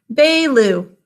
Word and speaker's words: Baloo: We think to spell his name Baloo because that first syllable is unstressed. Can you think of it as Baloo? Say it with me. Baloo, 2 syllables. In the first syllable, it's B-A, 2 sounds. A is in an open syllable saying its name. Second syllable is L-oo.